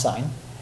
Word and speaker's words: sin: for on the calculator so sine is abbreviated s IM still pronounced sine cosine is abbreviated cos